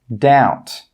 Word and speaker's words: doubt: The second rule with B is that B is normally not pronounced when it comes before the letter T. Some common examples are debt, subtle, doubt. Again, you can see here that we're not pronouncing the B in all of these words.